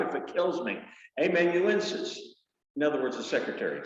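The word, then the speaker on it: amanuensis: he was peter's emmett hey man you in emmenuences i'll say it right if it kills me amen you insist in other words the secretary somebody that you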